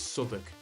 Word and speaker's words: Southwark: and I kept seeing Southwark, and it was about a month of living down there, and someone said, "It's Southwark. You need to say it Southwark." It's one of the boroughs in London, and honestly, I felt stupid.